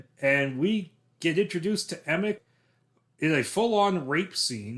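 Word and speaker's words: Emich: know what we're doing people often say image but the CH is pronounced like a k i got it right emic okay then we will say emic it it's like Roland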